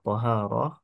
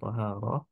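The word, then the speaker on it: طهارة: Di sini cara bacanya bisa Thaharah ya, Thaharah dengan memfathahkan huruf to-nya, dan juga bisa dibaca dengan mendomahkan eh, apa namanya huruf to-nya ya. Tapi itu beda makna ya.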